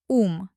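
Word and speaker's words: ум: In Russian, it's um. Remember how to correctly pronounce the U? Yes, lips like a narrow tube pushing forward.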